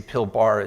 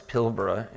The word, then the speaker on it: Pilbara: By the way, it should be pronounced Pilbara, although I'll go to the American pronunciation inadvertently, I'm sure in this presentation, is Pilbara. Americans tend to say Pilbara, it's Pilbara.